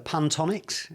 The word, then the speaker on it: Pantonics: The Pantonics, is that right? Am I pronouncing it right? Yeah.